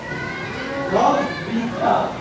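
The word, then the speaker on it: رَبِّكَ: Nah, di sini di bagian kata ini ada tasdid yang artinya kalian tahu? Robbika diikatkan. Jadi ini tuh ini disebutnya kan tasdid. Nah, tasdid ini kalau misalnya ada Hamidun. Jadi dibacanya bukan Robika.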